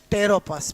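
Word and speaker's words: Pteropus: का क्या होता है टेरोपस पी साइलेंट होता है क्या होता है टेरोपस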